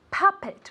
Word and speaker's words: puppet: this very good puppet puppet with an accent in the first syllable okay puppet as if it were really with an a repeat very good now let's